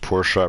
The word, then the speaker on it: Porsche: Anyways, yeah, Porsche is actually pronounced Porsche.